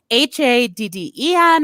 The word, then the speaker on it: Hadden: a name that could become popular in america h-a-d-d-e-n or h-a-d-d-o-n oh okay and it is pronounced yeah hadden and it's masculine typically and